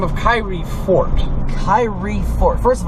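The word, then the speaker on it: Khairi: by the name of Kyrie Fort. Kyrie Fort. First of all, looking at the way his name is spelled, you never think you'd get Kyrie out of that, but, it is what it is.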